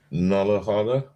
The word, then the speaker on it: Nullarbor: It's pronounced Nullarbor. Nullarbor Plain. Nullarbor. It's no A. It's no A at the end.